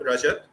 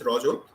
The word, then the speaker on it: Rajat: That's how you spell it, not Rajat. It's Rajat in Bengali.